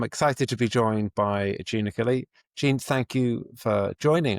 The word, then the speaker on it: Jeanne Achille: Now, I'm excited today to be joined by Jeanne Achille. I'm going to pronounce that again and let my editor correct that one. Jeanne Achille.